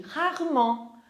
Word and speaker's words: rarement: Raramente, rarement. Rarement. O som bem na garganta.